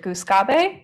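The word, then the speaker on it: Gluskabe: So I am more used to saying goose gobe instead of goose gob.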